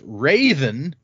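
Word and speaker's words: Raoden: Uh, according to this, that is pronounced Raven with a very subtle H at the beginning. So, like Craven.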